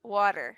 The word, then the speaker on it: water: And some people, I say water, Water. Hmm. like with a D, water. With water. But the thing is that also some people are like, don't say it like that. A Don't glass say of water. water.